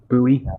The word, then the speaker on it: Bowie: Bowie. It's actually called a Bowie knife. That's how you pronounce it.